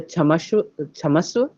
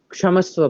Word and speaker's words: क्षमस्व: In North, we often say chamaswa, and in South, or in even in general Sanskrit, it is actually pronounced ka plus ksha. So kshamaswa parameshwari.